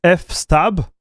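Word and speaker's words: fstab: What is the right way of saying it, chat? Thank you, guys. You are the best. It's F stab.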